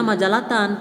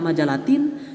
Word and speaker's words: majallatan: Dibacanya majalatan, tidak majalatin, tidak juga majalatun.